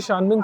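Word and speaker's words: Qianmen: old street so जी शान मिन street जो है जिसकी स्पेलिंग वैसे क्यू से होती है क्यू आई ए एन एम ई एन so shaman street की हिस्ट्री है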